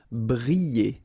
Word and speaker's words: briller: Briller. Alright, so here, I and then double L, so you get the sound y, y, y. Briller.